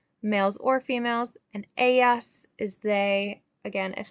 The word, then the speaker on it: Ella: Ella means she. Remember, the double L is pronounced as a Y.